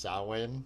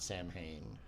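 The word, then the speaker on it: Samhain: It's so we'll get to it when we talk about the last movie but it's pronounced sin and not Sam Hayne.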